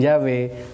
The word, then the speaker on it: Yahvé: Porque los judíos sefardíes que se radicaron en España pronunciaban la W como V. Así que algunos dicen Yahvé o Yahweh.